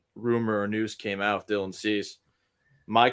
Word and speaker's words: Dylan Cease: Now, the Astros now have been targeting Dylan Cease. Did I say that correct? Yeah, still in That's it. Cease. Yep. Dylan Cease. Nice. Look at me, my pronunciation.